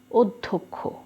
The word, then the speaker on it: অধ্যক্ষ: অদ্ভুত সঠিক উচ্চারণ দেখো অধ্যক্ষ অধ্যক্ষ এই যে ধয় জ ফালা হলো এইটা থাকলে আসলে কি আমরা উচ্চারণ করছি এখানে ধকার দিচ্ছি জ ফলার উচ্চারণ নেই কিন্তু ডবল করেছে এক্ষেত্রে একটু ব্যতিক্রম দুটো